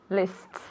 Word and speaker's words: lists: Lists. Okay, you have to Right. exaggerate it, okay? Because it is STS, we have to make sure that we're saying lists, okay? Exaggerating that sound, okay?